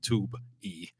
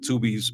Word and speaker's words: Tubi: Tubi movie is not pronounced Tube E like Randall did, but it's Tubi movies, so Tubi won't try to come after me.